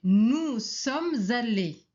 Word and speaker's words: nous sommes allés: Alors, la réponse c'est nous sommes allés. On doit faire la liaison entre le S et le A. On prononce Z.